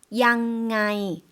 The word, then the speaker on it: ยังไง: 어떻게 발음하죠? ยังไง 남성도 한번 들어볼까요?